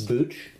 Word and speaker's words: Booch: Booch? Booch. How do you spell that? B-O-O-C-H. Oh, Booch. Like Bach, Ernie Bach Jr. But Booch.